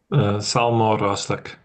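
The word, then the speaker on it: Sabhal Mòr Ostaig: Francis Xavier University in Nova Scotia and Savile Ostag, right? Something like that. I'm pronouncing that probably more in the Irish Gaelic way than in the Scots Gaelic.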